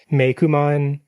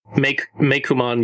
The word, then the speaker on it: Meikumon: It's all, the name confusion is even more complex because like Meikumon is spelled like COO, which looks kind of like Meiko, but then it's pronounced like Maine Coon.